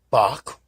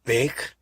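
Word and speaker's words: Bache: It was called the American Aurora, or General Advertiser, founded by Benjamin Franklin Bach, or Bake, whichever way you like to pronounce it. There were several different ways.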